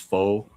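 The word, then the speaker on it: pho: You ever try Vietnamese foe? I know that's how English people pronounce this, but Vietnamese is f. I just say faux because people understand that more.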